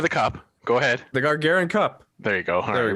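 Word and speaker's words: Gagarin Cup: Pronounce the name of the cup. Go ahead. The Gargarian Cup.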